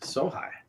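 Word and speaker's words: sōhei: She is a descendant of Sohai warriors. Did I pronounce that correctly? Yes, Sohai.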